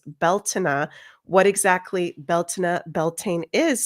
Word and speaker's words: Beltane: So, we're going to get into the history, spirituality, and rituals of what the heck Beltaine or how it's traditionally pronounced in the Celtic way is Beltina.